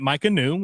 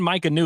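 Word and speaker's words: Maika Niu: you if when you when I'm saying Micah New, if you're listening on audio, uh, you probably think that's spelled one way. The way this name is spelled M A I K A N IU. Micah new. I think that I'm pronouncing it right.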